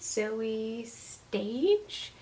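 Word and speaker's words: Zoje Stage: to pick up baby teeth by and get Zoe stage that's how you pronounce the name obviously another Thriller I have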